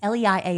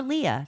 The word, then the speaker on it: Leia: L E I A is Leia or Lia, depending on your pronunciation.